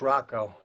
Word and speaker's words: Rocco: Is it Rocco or Rocco? It's Rocco.